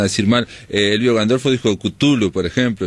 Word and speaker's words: Cthulhu: Elvio Gandolfo dijo Cthulhu, por ejemplo, y yo también decía Cthulhu, pero Cthulhu porque es un poco la pronunciación consagrada en lengua inglesa.